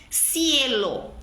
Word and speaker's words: cielo: Cielo, cielo, céu, cielo, CI. Som de S.